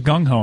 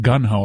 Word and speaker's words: gung-ho: says how he talks did you know that it was gung-ho and not gun ho a lot of people mispronounce that oh go ahead put